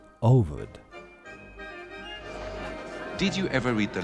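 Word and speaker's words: Овод: a hugely popular Russian novel whose name is pronounced ovod.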